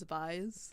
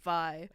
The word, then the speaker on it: Vi: spelled the same as Vi's. Sure. And everybody pronounces my name Vi as Vi. Oh, okay. That's why you have League. It in the bio as V as in... It rhymes with B, yeah so because okay.